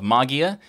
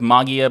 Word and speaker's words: Mageia: going to go with magia because technically that's the greek pronunciation or so i have